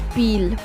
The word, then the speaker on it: Peele: ठीक है, इसकी प्रोनाउंसिएशन पील होगी, ना कि पीली। पील बोलना है। कई बच्चे इसको पीली पढ़ देते हैं, वो मैंने भी बाय मिस्टेक बोल दिया, इसको पील बोलेंगे।